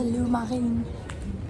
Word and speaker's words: Lourmarin: We've just got to Lourmarin.